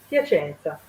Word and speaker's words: Piacenza: Sabrina, I have already told you that she is from Italy, and she is in fact Piacenza. Is the pronunciation is correct, Sabrina? Bravo, Piacenza.